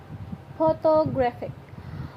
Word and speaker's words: photographic: Adding ig or forming an adjective from a noun often causes stress to move to the syllable immediately before the suffix. The best photograph has initial stress. Photographic moves stress right word.